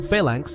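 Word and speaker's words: Phalanx: First, failank is pronounced failank and it's named after an ancient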